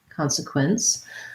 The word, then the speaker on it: consequence: let's talk about consequence consequence i would say this is again consequence we have first syllable stress c-o-n in the beginning of words when it's stressed often says the ah con then we have sequence so i would say